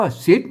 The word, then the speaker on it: ศิษย์: ต๊ะ ตัว ต๊ะ นะ ตัว ตะ อ่าน ว่า ศิษย์ แล้ว ก็ อ่าน ว่า ศิษย์ เออ อัน นี้ อ่าน แบบ อัน สำเนียง ของ อัน ไตยวน จัง นะ ครับ ศิษย์